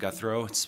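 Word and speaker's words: Guthreau: Health and Human Services my name is guthro for the record it's spelled last name guthro g-u-t-h-r-e-a-u and I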